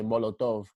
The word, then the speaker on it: Molotov: cocktail yeah yeah but they pronounce it in a Spanish way Molotov okay monotone and be